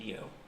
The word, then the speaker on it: Yo: Well, it's connected to yo, and some people pronounce that you, but it's yo.